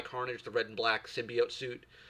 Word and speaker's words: symbiote: I think they call it symbiote is what they call it. That's not how it's pronounced. It's pronounced symbiote.